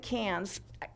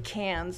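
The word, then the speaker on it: Cairns: Great Barrier Reef area and in Australia they pronounced at Cannes I felt kind of effective saying that but everybody else there was saying Cannes so that's the way they pronounce it we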